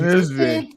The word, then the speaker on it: Wednesday: do you pronounce it? I said, Chief, Wednesday. Wednesday. Wednesday.